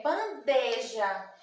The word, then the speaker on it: bandeja: as pessoas falam bandeja mas nós não temos esse ir aqui junto da sílaba der é bandeja tá bem leio as